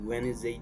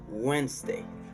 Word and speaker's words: Wednesday: au lieu de dire Wednesday, dites plutôt Wednesday, ok? Au lieu de dire Wednesday, c'est plutôt Wednesday. Wednesday, c'est la bonne manière de bien prononcer ce mot-là.